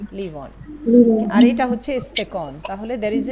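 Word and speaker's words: استکان: তারপরে হচ্ছে ইস্তেকন, ইস্তেকন, তের নিচে কিন্তু মানে জের দেওয়া আছে, যাতে ইস্তেকন উচ্চারণটা একটু হেল্প করেছে এখানে।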